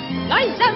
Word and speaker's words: Liza: Just make it a happy, leave it a Liza Winfrey, not Lisa Winness, cause Lisa Winness holds snubs in the instead of S, lines and Lisa triples me, see Liza?